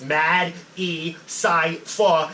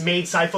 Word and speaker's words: Madecipha: Like I tell people to sound it out. Like it's Madecipha, and it's all one word. But if you sound it out like that, like syllable structure, which is how my whole basis of rapping is syllable structure, that you'll get it. Some people think it's made cypher, whatever, and then, but it's